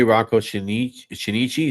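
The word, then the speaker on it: Rocco Chinnici: 1983, Rocco Shinichi. Is that how it's pronounced?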